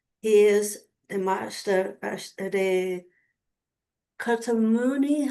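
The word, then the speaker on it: Kuthumi: He is the master, the Katamuni, how do you pronounce? Kutumi.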